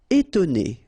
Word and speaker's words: étonner: Étonner. Okay, so first you've got this accent aigu, et, and then you've got to, and then ne. Étonner.